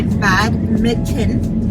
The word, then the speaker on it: badminton: We're on our way to play badminton. Badminton. Don't say it slow, because that's what you... Badminton. No, I think the T you pronounce it. Badminton. That's it.